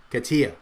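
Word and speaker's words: CATIA: specific industry spaces right like like like Kat Katy or kesi I never figure out how you pronounce that and Pro Katia okay there you go see I wasn't even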